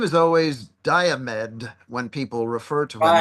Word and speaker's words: Diomed: I think his name is always Diomed when people refer to him, I Right. believe. Yeah, that's another one. Yeah. That's Diomed, and that's the accent on the first syllable.